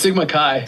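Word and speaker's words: Sigma Xi: to Sigma Sigma how how would you pronounce that Veron it's Sigma Kai Sigma Kai yeah the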